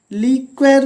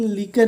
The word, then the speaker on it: liquor: वैसे लीकर, लीक्वर भी बोलते हैं कुछ लोग, लीकर भी बोलते हैं, लेकिन लीकर ही सही है।